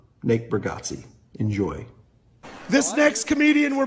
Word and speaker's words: Bargatze: Nick Burggatsi.